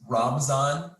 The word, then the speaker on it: Ramzan: So it was Ramzan Ramzan.